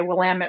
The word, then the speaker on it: Willamette: I don't know if kids say bad words on here or not, but we usually say Willamette rhymes with damn it. Willamette, damn it.